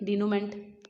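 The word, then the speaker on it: dénouement: बड़ी सी स्पेलिंग है, इस पर आएगी नहीं, डिनोमेंट ऐसे इस करके पढ़ते हैं, डिनोमा पढ़ते हैं बस उसको, ठीक है।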